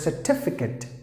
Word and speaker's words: certificate: So here, the letter R is followed by a consonant. So here it is silent. So you have to pronounce the word as certificate.